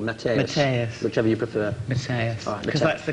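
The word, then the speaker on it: Matthäus: Matthaus. Because that's the correct pronunciation.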